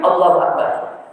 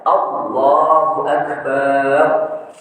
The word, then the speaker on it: Allahu Akbar: Barnya panjang. Allahu akbar. Salah. Kenapa? Karena artinya Allah itu beduk. Berarti kita samakan Allah dengan makhluk.